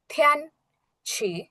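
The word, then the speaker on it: 天气: দেন আমাদের third word হচ্ছে থ্যান ছি, থ্যান ছি, থ্যান ছি, থ্যান ছি। তিয়ান হবে না কিন্তু, এখানে থিয়ান হবে।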